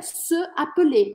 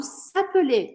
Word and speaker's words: s'appeler: Se lever seria se appeler, mas eu não posso falar se appeler. Aí eu falo s'appeler, é uma questão de pronúncia, fica mais fácil de pronunciar.